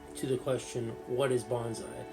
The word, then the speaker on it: bonsai: Literally, of course, the word bonsai, bon and sai, two syllables, from the Japanese language, tree, pot.